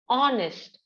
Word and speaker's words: honest: we pronounce it as honest they're awesome o sound should be heard okay H is silent and o sound is the beginning sound there so in in such